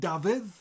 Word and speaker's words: Dafydd: So I think the double D at the end, Dafydd.